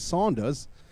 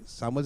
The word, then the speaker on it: Saunders: 14 from 12 and you may sound like man and Samuels though but don't get it twisted it's Saunders so I have to pronounce it Saunders correctly people may say samels is back batting for